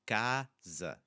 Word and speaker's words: casa: It's the S after it in casa, and cama is forcing us to just slightly change how that sound is going to be produced.